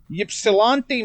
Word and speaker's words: Ypsilanti: Domino's, kind of, it's debatable here, but it was founded in 1960 in I don't know if I'm going to pronounce this right, Ypsilanti, Michigan.